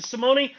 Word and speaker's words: Simone: Super excited to have you, Simone. And all right. First of all, let's get this straight. Am I saying your name correctly, Simone? Almost. Simone.